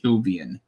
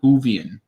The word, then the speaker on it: Whovian: know gaiman is a huge huge hubian i i just completely butchered that hoovey and not human whovian all right let's see